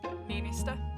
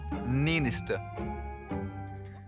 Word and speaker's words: Niinistö: How do you pronounce that? Niinistö. Niinistö.